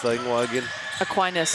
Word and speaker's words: Aquinas: Yes, I'm very much enjoying the game that, Arohomai, how do you pronounce the ingoa again? Aquinas. Aquinas.